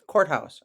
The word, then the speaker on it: courthouse: the courthouse the courthouse when we say it quickly here in the United States the courthouse I got to go to the courthouse we swallow that tea I do not like